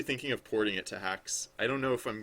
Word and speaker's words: Haxe: Um, oh, hacks.